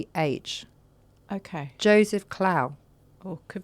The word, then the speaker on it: Clough: Klau? No. Clough.